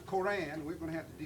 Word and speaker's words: Quran: the Islam, which is the Quran, which we pronounce Quran.